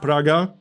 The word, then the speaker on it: Praga: So, here we got Żoliborz, Praga, Wola, Śródmieście, Ochota, and Mokotów. That's how you pronounce all these names, by the way.